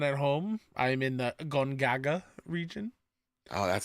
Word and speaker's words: Gongaga: I'm in the Gongaga region.